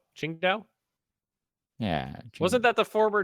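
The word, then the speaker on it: Qingdao: Um, King Dao. Chin Dao.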